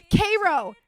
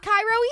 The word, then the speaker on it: Cairo: Cro. Yes. Yes. Not Cairo, Egypt. Cairo, Illinois. Yes, gluten-free ramen poodles.